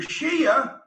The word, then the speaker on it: Shia: know anything about the shia muslim you didn't say it right it's shia or sunni so here's the difference